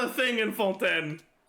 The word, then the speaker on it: Fontaine: the silent T is not a thing in fonten it's not full n it's fonten is 40 to 50K normal attacks